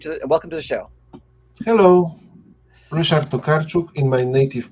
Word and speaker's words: Ryszard Tokarczuk: Hello, Ryszard Tokarczuk in my native pronunciation, for the ease of communication.